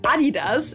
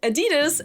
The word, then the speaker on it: Adidas: I'm talking about Adidas as we say in German or Adidas as Americans say.